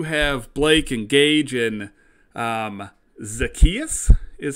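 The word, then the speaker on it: Zaccheaus: Now, we do have Blake and Gage and Zacchaeus is how you pronounce this kid's name.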